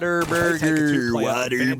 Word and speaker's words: Whataburger: The literal typing of it is what a burger, but everyone pronounces it Whataburger.